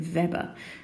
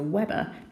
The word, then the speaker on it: Weber: it is measured in verber and notice I'm calling a verber as opposed to Weber because it was a German I think scientist so the W is pronounced like a V so what this actually